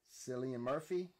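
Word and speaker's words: Cillian Murphy: 2012 it's called red lights star sigy Weaver slian Murphy that's how you say his name and uh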